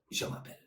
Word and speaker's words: je m'appelle: So how you ask the name is comment tu t'appelles, and the answer is je m'appelle.